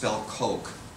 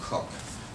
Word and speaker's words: Coke: Sir Edward Coke and Sir Coke, the way we pronounce it, but it's pronounced Cook. So don't embarrass yourself if you're citing Cook and call him Coke.